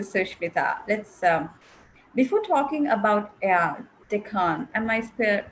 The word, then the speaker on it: Deccan: Going back to Sushmita, let's, before talking about Deccan, am I pronouncing it correct? Yes, Deccan?